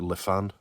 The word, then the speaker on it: Lifan: fan of Le fan various ways that you could pronounce it I call it Lee fan but I suppose you could call it Lifan thought it will go with Le fan it's a Le fan